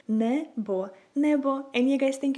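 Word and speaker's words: небо: So if you wanna say a sky in Ukrainian, you would say it like nebo, nebo, nebo.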